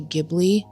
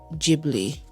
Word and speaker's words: Ghibli: I know some people out there that say Gibli. Pretty sure the correct way to say it is Ghibli.